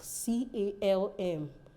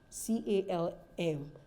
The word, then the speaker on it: calm: are certain words like c-a-l-m c-a-l-m will say it's not calm down no it's calm down the L is not pronounced the front of your